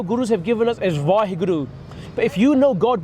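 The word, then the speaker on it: Waheguru: can use the Gurmantar, the words Vaheguru. Yeah, it's 4 syllables.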